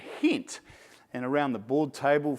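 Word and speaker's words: Gent: One's Genk, and one, or they pronounce it as Henk and Hent.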